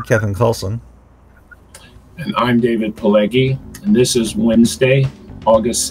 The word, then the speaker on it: Pileggi: I can barely pronounce Kallsen correctly. It's Pileggi, right? Pileggi.